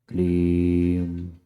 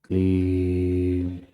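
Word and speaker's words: क्लीं: जो स्थान कहलाता है उस पूरे कं पर गले पर स्वर यंत्र पर जोर जोर देते हुए प्रेशर देते हुए उच्चारण करें पुन एक बार क्लीम क्ली क्लेम क्लेम क्लेम क्लीम क्लीम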